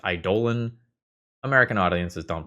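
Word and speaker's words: eidolon: And as a quick aside here, uh, note that super super literally based on the Greek pronunciation of the word, the word idolon is pronounced idollan.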